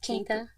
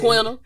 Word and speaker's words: Quinta: Keita. That's not how you Although I have heard Quinta. That's So I might be how I wrong. was saying. Quinta.